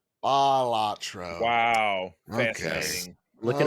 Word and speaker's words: Balatro: Yes, and it's actually pronounced Balatro. Balatro.